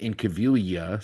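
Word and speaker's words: Incaviglia: I at least when I remember his name being pronounced the G was silent. So I always thought it was Pete in Cavilia.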